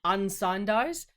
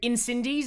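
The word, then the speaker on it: Incendies: June and in also how do you pronounce this film asign dies what the you unsign dies so in cindies is not what I should be saying which is how I've been saying it for the past like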